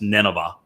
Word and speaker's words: Nineveh: plane near the ancient uh Ninotha uh which was which we would pronounce Nineveh, not far from Mosul